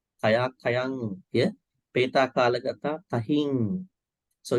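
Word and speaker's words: tahiṃ: Peta kalagata tahing. So it's rhyme, but when you pronounce it, has a sound.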